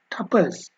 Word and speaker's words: tuple: Today I am going to discuss about Python tuples. It is pronounced as tuple too.